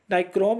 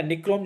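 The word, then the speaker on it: nichrome: नाइक्रोम या निक्रोम जिसको बोलते हैं, इंग्लिश में हिंदी में थोड़े से स्पेलिंग का डिफरेंट हो सकता है, बाकी आंसर से कोई दिक्कत नहीं होता है। तो 55 का करेक्ट आंसर हो जाएगा आपका ऑप्शन नंबर डी, निक्रोम या नाइक्रोम बोलिए, यह इसका सही आंसर हो जाएगा।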